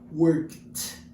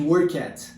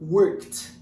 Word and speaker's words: worked: Aqui a gente vai pronunciar work, vai esquecer que o E existe e vai utilizar a letra D. Worked. Ok? Worked. Ao invés de work at, como eu vejo muitas pessoas falando por aí. Então, worked.